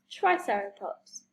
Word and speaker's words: Triceratops: Triceratops.